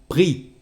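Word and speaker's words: pris: is D and finally PR is pre and we don't say the letter s f PR well we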